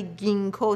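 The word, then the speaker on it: Ginkgo: چیز دیگه که کمک میکنه گینکو بیلوبا، گیاهی هستش که جینکو نوشته میشه ولی گینکو تلفظ میشه، که من معمولا اون رو برای کسانی که مشکل حافظه دارن بهشون میدم.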